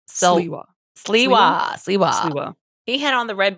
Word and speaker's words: Sliwa: Silwa. Someone corrected us on the Patreon. We were saying like S-I-L. It's S-L-I. Sliwa.